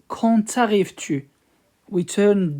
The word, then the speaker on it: quand: Quand. We don't pronounce D at the end. We just say quand.